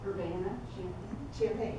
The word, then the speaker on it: Urbana-Champaign: Urbana-Champaign, right, okay.